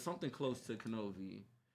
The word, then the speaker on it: Knovie: So people, look out for my boy Knovie. With the K. With the K. Pronounce the K.